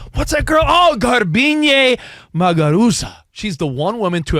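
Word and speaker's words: Garbiñe Muguruza: Yeah, let's hear you pronounce her name. In a Grand Slam. And her name is Garbine Muguruza.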